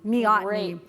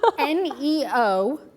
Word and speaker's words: neoteny: Neoteny.